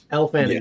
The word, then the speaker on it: Elle Fanning: She's still in talks, but is it Elle Fanning? Is that how you say it? Elle Fanning, yeah.